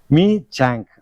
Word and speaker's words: Michaung: இதை சொல்லணும் எப்படின்னு ஒரு அமெரிக்காவில் எனக்கு சொல்லி கொடுத்தாரு. மீ சாங்க் அப்படிங்கிறது தான் இது உண்மையான உச்சரிப்பு பெயர்.